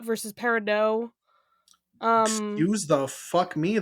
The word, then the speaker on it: Peridot: I mean, I know I've heard there's controversy about Peridot versus Peridot. Excuse the fuck me. There is a T at the end of that name.